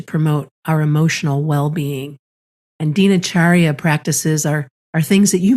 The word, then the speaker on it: Dinacharya: Yeah, Dinacharya.